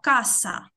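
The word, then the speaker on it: casa: Але коли у нас оця с стоїть перед а, то вона читається к. І це слово каса перекладається як дім.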